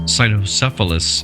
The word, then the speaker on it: cynocephalus: In this translation of the text, the term dog's head is used as his name from the Greek kynokephalos, usually pronounced cynocephalus in English or cynocephali or cynocephaly as the plural.